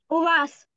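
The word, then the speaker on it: uva: У вас. Зверни увагу, на який склад падає наголос. У вас. Muy bien, у вас, передостаннє.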